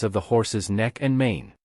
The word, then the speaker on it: 嗎: particle, and its pronunciation is based on ma. However, the tone shifts from the third tone of ma to a lighter tone in ma.